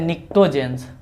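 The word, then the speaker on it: pnictogens: हैं, इसको कहते हैं निक्टोजेंस। निक्टोजेंस, पी भी साइलेंट है, सी भी साइलेंट है, निक्टोजेंस कहते हैं।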